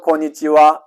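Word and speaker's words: こんにちは: 그리고 원래는 하라고 읽어야 되는데요. 이 녀석이 조사일 때는 와로 읽습니다. 와로 발음을 해야 된다. 오늘은 이 단어에서 인사로 바뀐 겁니다. 그래서 고니치와 그러면 주로 12시에서 해질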